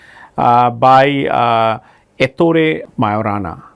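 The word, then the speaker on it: Majorana: by uh eto to Mayorana. Uh this J is silent.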